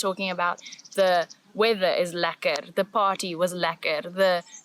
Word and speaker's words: lekker: Lekker.